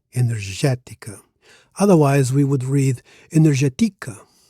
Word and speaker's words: energética: Energetica. Now, energetica, the accent is on the third syllable from last. Normally, Portuguese words are stressed on the one before last syllable, the penultimate syllable.